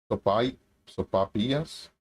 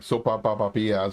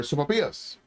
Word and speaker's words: sopapillas: Sopapillas, sopapillas. I think it's pronounced sopapillas. But when I was younger, I would put like more syllables like sopapapillas or something like that.